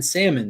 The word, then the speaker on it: salmon: over time that's why you don't pronounce the l in salmon that's why the tn